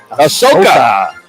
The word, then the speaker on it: Ahsoka: August all right how do you say it I Soca Ahsoka okay thank you thank you all those